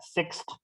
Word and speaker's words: sixth: Jadi pengucapan TH ini hampir tidak terlihat bedanya dengan terdengar bedanya dengan four dengan fourth. Memang ya four dengan fourth beda ya, tapi kalau six dengan sixth itu kan hampir tidak ada bedanya ya bagi kuping orang Indonesia. Tapi sebenarnya ada TH-nya yang harus diucapkan di situ ya.